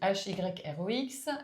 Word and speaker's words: Hyrox: Donc l'hyrox donc ça s'écrit H Y R O X euh c'est une pratique sportive qui est en